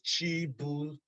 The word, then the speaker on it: Chibuzo: My name is Chibuzo. A lot of you all know me as, and that's fine. The pronunciation is Chibuzo.